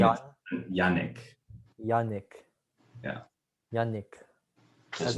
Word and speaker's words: Yannick: with like Sonic, like Yannick. But What? the It's name is Yannick. Yannick. Yeah. Yannick. As Does opposed to Yannick. It really doesn't bother me. Like I just does not rhyme with Sonic, everybody.